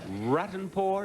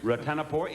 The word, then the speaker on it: Ratanapor: were shorter than that rotten poor is that how you pronounce it is that correct yeah ratanapor it is a pleasure to